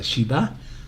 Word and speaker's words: shiva: en su significado verdad siete se dice sheva en hebreo em pero también tiene un significado si se pronuncia shiva como de juramento verdad Ahora esta misma